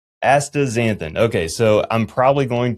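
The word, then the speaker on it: astaxanthin: So let's let's get the pronunciation correct first. So it's Asta Xanthin, right? Correct. A Aazanthin.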